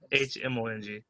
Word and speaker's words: Hmong: Also, for those who don't know, Hmong is spelled with an H. Yes, Hmong.